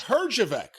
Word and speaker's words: Herjavec: And Robert, with the last name we can never pronounce. Herjavec. Well, you can pronounce it. As my mother used to say, if you do, you'll clean it up. Herjavec, you do, you'll clean it up.